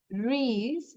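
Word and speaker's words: wrist: না রাইট রং WRONG আমরা কিন্তু ডাব্লিউ এর উচ্চারণটা করি না রিস্ট এই যে ডাব্লিউ উচ্চারণ করব না রিস্ট ল্যাম্প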